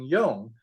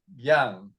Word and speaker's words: Yong: My name was Yong, which means gentle and brave. So when I was in boarding school, none of the boys could pronounce Yong, so I became Yang.